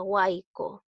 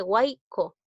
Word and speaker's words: huaico: La Y también cuando está al medio de una palabra, ¿ya? Se va a pronunciar como I. Aquí dice huaico. Te das cuenta que lo estás pronunciando como I.